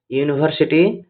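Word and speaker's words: university: এখানে দেখো ইউনিভার্সিটি শব্দের যদি উচ্চারণ করা যায় তাহলে এর প্রোনাউন্সিয়েশন ওয়াই ডবল ও বা ইউ দিয়ে শুরু হয়, তাই ইউনিভার্সিটির এর আগে এ আর্টিকেল বসবে।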